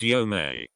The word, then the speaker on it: Yom: You with me? Pronounced Yome.